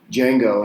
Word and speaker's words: Django: your name is like Django and it's like how do you spell that he says DJ and Gio the D is silent and then muralist